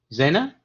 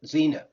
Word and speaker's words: Xena: to make everything fit zenna asked and i hope i pronounced your name right nope xena xena all right xena asks